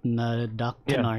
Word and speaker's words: Nadaktanar: to creep over the bow, but then the Nadaktanar, did I say it right? Nadaktanar, yeah.